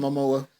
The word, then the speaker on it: Momoa: Jason Momoa.